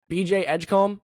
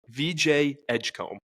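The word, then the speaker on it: VJ Edgecombe: BJ Edgecomb. VJ Edgecomb.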